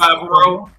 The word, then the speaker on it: Favreau: Oh, Dave Filoni and John, I can never remember, pronounce his last name. Favreau? Yeah, that's Favreau.